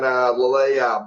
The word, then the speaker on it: Lillet: Lillet.